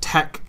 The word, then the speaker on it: TeX: So it's because tau, epsilon, chi, right, which are Greek letters, is what tech is spelled as, and they're kind of,